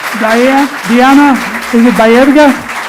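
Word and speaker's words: Baerga: Is it Berga? I have your name two different places and spelled differently both times. Can you spell it for me, please? Diana Berga.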